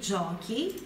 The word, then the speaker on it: giochi: E aqui, por outro lado, quando você coloca o H ali entre o CI, dá a palavra, a sílaba, o som duro. Então, se só o CI se pronuncia ti, o C, H, I se pronuncia qui.